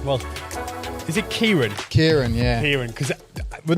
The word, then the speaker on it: Ciaran: but it is Ciaran. I've got, my surname's Irish as well. Which no one can ever pronounce.